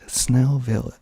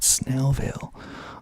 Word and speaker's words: Snellville: I don't know why you would hate Snowville it's called Snellville um but they had